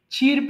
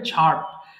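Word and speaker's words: chirp: ছার্প কিচির মিচির করা এটা অনেকে ভুল করে চিরপ বলে ফেলে কিংবা ক্রিপ বলে ফেলে এটা কিন্তু উচ্চারণ হবে ছার্প যদিও এ নেই তবুও তোমাকে প্রোনাউন্স করতে হবে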